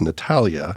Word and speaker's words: Natalija: we hit record that you have a letter in your first name that isn't pronounced there's a J in there but it's Natalia and then you have H in your last name that is pronounced but it's not part of the spelling surprise so this is